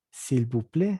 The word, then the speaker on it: s'il vous plaît: Esta S no se pronuncia y se dice s'il vous plaît. La A-I se vuelve E. La T no se pronuncia, entonces simplemente s'il vous plaît.